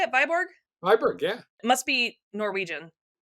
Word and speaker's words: Viborg: Viborg, yeah.